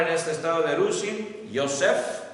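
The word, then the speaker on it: יוסף: José es Yosef con la Y. Yosef. Este era José con la Y, así se escribe en hebreo, Yosef.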